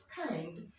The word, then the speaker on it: kind: Deeply করতে পারে না, ওরা ক আর খ এর মাঝামাঝি উচ্চারণটা করে, তাই এটার উচ্চারণ হবে কাইন্ড।